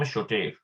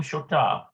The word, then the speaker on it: שותף: Bayahad im Shotef. Yeah. ביחד עם שותף. Bayahad im Shotaf. Okay, so it's shotaf. Interesting. Well, it could be shotape too.